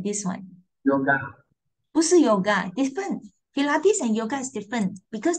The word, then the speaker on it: Pilates: gentleman right and also there's another one uh pilates pilates must be like this Pilates show you this